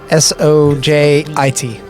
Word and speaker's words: Sojit: Are you saying SOJEET, like Sojit? Yeah. S-O-J-I-T.